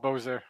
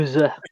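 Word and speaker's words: Beauséjour: We have a city in Manitoba called Bozer. I mean, spelled different. That's awesome, though. Yeah, I wonder if he knows. probably. I mean, the way you spell it is so much worse. I think it's like Beausjour. It's like, Bowser. yeah, it's super French.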